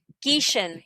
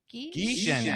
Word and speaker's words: Gieschen: Geishon. Geishon. Geishon.